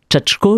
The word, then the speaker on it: Chatchko: Tchako, je le prononce bien ?